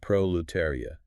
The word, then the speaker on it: proletariat: Proletariat pronounced prolletaria. Prolariat. That middle section terry requires careful articulation. It's easy to stumble over.